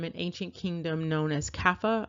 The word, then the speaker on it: Kaffa: And this apparently comes from an ancient kingdom known as Kaffa. I'm not sure if I'm pronouncing that right. It almost reminds me of Kafir. It's Kaffa.